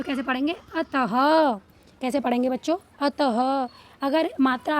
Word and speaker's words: अतः: तो अतः हा का प्रोनाउंस हुआ बच्चों, मतलब हा का उच्चारण आया इनमें, मतलब अतः।